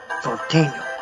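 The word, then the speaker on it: Norteño: That's spelled Norteno. Nortaino.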